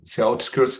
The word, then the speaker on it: outskirts: Donc, c'est outskirts qui vous a posé problème. Vous le prononcez out, comme out, dehors.